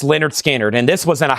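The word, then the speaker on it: Lynyrd Skynyrd: Pronounced Leonard Skannard.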